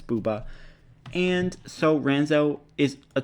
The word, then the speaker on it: bouba: boba ba you know I'm going to keep mispronouncing it because boba is like the best thing in the world and I keep thinking boba but it's bubba and so Ranzo is